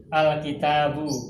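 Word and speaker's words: الكتاب: Kecuali alif wasol yang terdapat pada alif lam. Dibacanya a fathah. Al-kitabu, ar-rasulu, al-madrasatu, al-masjidu.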